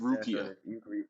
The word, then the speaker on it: Rukia: Sorry to interrupt, but her name's pronounced Rukia.